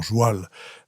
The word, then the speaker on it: joual: On dit joual parce que c'était la prononciation, pardon, de cheval.